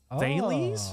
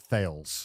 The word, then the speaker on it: Thales: It's like Thales? ah, I would have pronounced that Thales. yeah. Thales. Thales? Thales, maybe?